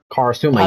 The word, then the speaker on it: Karasuma: I ship her with how you pronounce his name? Karasuma. Karasuma.